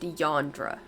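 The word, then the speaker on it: Eondra: ] her sister's name so it's yondra e-o-n-d-r-a but it's like pronounced yandra yeah so once we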